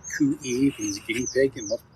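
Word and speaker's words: cuy: C-U-Y pronounced Coo-E means guinea pig in multiple places.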